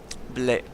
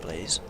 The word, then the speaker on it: Blais: Blais. It's pronounced, not Blaze.